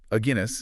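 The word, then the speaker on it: Aguinis: 1995 study today by a Guinness oh how do you pronounce that it's like the beer a Guinness oh okay Pearson Quigley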